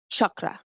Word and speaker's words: chakra: psychedelic spaces so the word Shakra is actually pronounced chakra that's to slide chakra nice I've got like